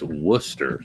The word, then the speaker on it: Worcester: You know how they pronounce that in the East Coast? Worcester. That's it.